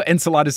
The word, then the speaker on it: Enceladus: rolled with it enchiladas I know Enceladus is that's like the most common accepted pronunciation especially because there's a moon named after him right see this is